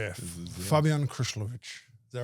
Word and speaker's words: Krslovic: Well, Fabian Chryslovik is is pretty good, but if you want to be proper, Fabian Kushlovich is Yeah. Fabian Krishlovich.